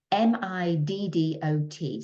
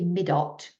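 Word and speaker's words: Middot: And this text is, the wording is M-I-D-D-O-T. So I'm going to pronounce that Middo, but it might be Midot 2.2.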